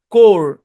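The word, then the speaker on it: corps: কোর, এখানে পি তো silent, S ও silent ভাই।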